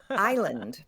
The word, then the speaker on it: island: Also added, unhelpfully, island.